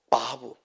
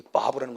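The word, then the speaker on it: וָו: 그래서 요드라고 하고 이걸 해라고 하고 바브. 독일어적인 발음은 바브. 그냥 일반적인 발음 때는 와우라고도 하고 바브라고도 하고 이 글자가 있어요.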